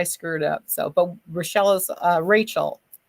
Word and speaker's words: Rochelle: But Rochelle is Rachel. It's spelled Rochelle, but it's Rachel.